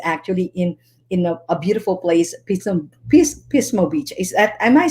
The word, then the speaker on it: Pismo: And of course, our special guest is actually in a beautiful place, Pismo Beach.